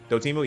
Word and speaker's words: Dotemu: Dotemu, yeah.